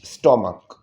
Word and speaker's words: stomach: লাস্টে সিএইচ আছে কিন্তু উচ্চারণটা চয়ের মতো না হয়ে যদি কয়ের মতো হয়, তখন তাহলে কি হয়, তখন তার সাথে আর ইএস যোগ হয় না, তখন তার সাথে শুধুমাত্র এস যোগ হয়। STOMACH, স্টমাক।